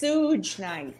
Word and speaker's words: Suge Knight: It's pronounced Suge Knight.